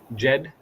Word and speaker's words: GED: Is that how it's pronounced? Jed.